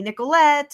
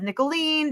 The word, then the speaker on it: Nicholeen: to remember it and they call me niolet instead of nicolene because that seems like